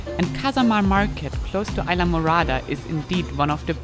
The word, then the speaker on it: Islamorada: Even though the name Islamorada came from early Spanish explorers and means translated purple island, You don't pronounce it the Spanish way anymore, but very English, with Isla being now Isla, similar to the word island.